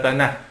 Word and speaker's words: Tanaj: Entonces estaba la T, la N y la J, pero la J con la pronunciación que tenían ellos se pronunciaba como una K, Claro.